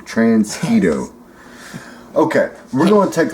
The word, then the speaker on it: Transquito: Beast Wars evil Predacon transgito yes not mosquito transketo okay we're going to